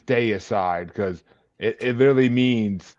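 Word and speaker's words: Deicide: of the same feeling you mean decide day aside it's day aside it's it spelled it's spelled the same way as decide no it isn't there's an extra I in there d c i d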